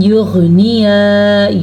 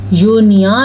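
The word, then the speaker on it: يغنيا: Film یغنیا یونیا نہ پڑھ لینا آپ لوگ، یغنیا غین کے تلفظ کی آواز کلیئر ہونی چاہیے.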